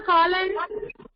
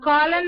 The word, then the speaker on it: cologne: So what is a Colin? A Colin is a perfume. Okay. A Colin is a Perfume.